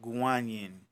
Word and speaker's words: Guanyin: this God is called Guan Yin okay I guess that's the Chinese Way of pronouncing it and cannon or kinome